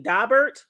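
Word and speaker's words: Daubert: Now, for y'all who don't know, because I didn't know this either, but a dabbert and it's spelled D A B E R T. Dobert.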